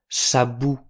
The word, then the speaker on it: sabon: Mais puisqu'il y a un N, on prononce bien « sabon » en insistant sur la dernière syllabe.